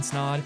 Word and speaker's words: Snaadt: rhymes with odd podcast my name is snod it Rhymes a lot and we'll see in the